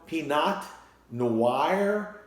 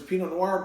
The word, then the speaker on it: Pinot Noir: don't wanna you know peanut no wire no wire you know but it's Pinot Noir because it's a French group and you're scared of